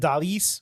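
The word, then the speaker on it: Dalys: Moving to Stephanie Vaquer and Lola Vice against Chick Tormenta and Dalis, which is how you say her name. I got that wrong previously.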